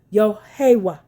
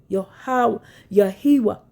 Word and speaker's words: Yahweh: Yahweh, Yahiwa, Yahweh. He observed that they pronounced it in 4 syllables, matching the Hebrew pronunciation that was hidden from the world.